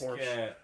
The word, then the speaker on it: Porsche: In German, it is Porsche.